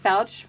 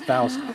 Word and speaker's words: Foucht: Foucht rhymes with couch with a T at the end. Yeah, not Faust, like I said in the beginning.